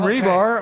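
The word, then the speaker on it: Rybyr: Right, well, I'm Rebar, R-Y-B-Y-R, that's how you spell it. I know people get it wrong all the time. Rybar, Solid Mud Show, you're listening to 96.9 FM, KMRD-LP, Madrid, New Mexico.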